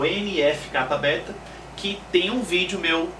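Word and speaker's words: NF-κB: ó CT um Aqui nós temos né a pronúncia é nfk Beta e aqui e de uma maneira mais extensa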